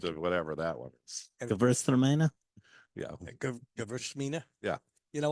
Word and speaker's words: Gewürztraminer: Gewürztraminer. Yeah. Gewürztraminer. Yeah. You know what? The easy way to do it is Gewürz. Just say Gewürz.